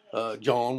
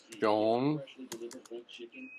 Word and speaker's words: John: John. Dadgummit, why'd they put an H in the name John?